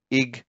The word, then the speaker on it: Iguanodon: Four syllables, ig-wa-no-don, Iguanodon.